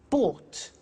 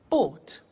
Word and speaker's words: bought: Buy, bought. You notice that O-U-G-H-T is pronounced ought. Buy, bought.